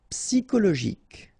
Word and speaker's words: psychologique: Okay, remember it's an exception here because you've got this C-H-O. Normally we should pronounce it sho, okay, but in that case we pronounce it ko. Psychologique. Remember, final Q-U-E like that, K.